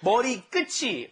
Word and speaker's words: 머리끝이: Okay, pay attention to the pronunciation of this. It's not 머리끝이. No. Just like 같이, right? This one is 머리 끝이. Yes, it's a chi sound on the end of it, okay?